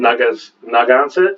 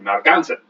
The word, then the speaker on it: Narragansett: So I think the emphasis is on the gon. Narragansett? So it's going to be like Narragansett.